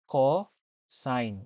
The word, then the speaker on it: cosine: word cost I mean the way how you will uh uh say this word cost is actually coign which is the compl